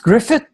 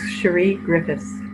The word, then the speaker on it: Griffiths: coffee with you and your last name is pronounced Griffith we got the silent s it's Sheree Griffith Sheree Griffith so with